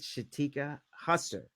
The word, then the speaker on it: Shateka Husser: I'm here with Shateka Husser. Did I Yes.